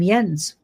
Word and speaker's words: Jensen: And I think I said Jensen's but uh you pronounce his name Yens and I met him in person at the conference and he's absolutely amazing.